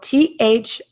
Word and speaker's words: though: Okay, so THOUGH, though. So we can pronounce all of those letters as one sound, the long O. Can also be pronounced as the long O in dough.